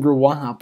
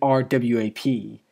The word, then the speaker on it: RWAP: through the title wrong i kept saying ruap when it's actually rwap which it's just the letters there's no there's no actual like combination between them but uh yeah with